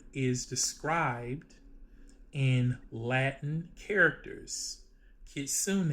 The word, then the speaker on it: kitsune: Kitsune, it means a fox. The second word is described in katakana. Kitsune. It is also a fox. The third word is described in kanji, which is borrowed Chinese characters, and it also reads kitsune. So all three words are pronounced the same.